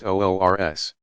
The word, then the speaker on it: urs: the Saints wedding day urs pronounced olr s on the 6th of